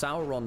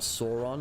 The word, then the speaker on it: Sauron: But, it's Sauron, not Sauron. I know in America, it's often Sauron.